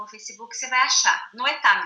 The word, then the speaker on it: Noetá: Noetá mesmo, como se fala. Noeta.